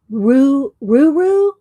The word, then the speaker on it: Ruru: Rusha, my name is pronounced like this. Ruru, like kangaroo.